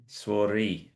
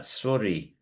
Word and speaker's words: souris: It's like saying swore, Yeah, yeah. swori. Again, the R is pronounced a little more, but we've already looked at that. But swori, la swori.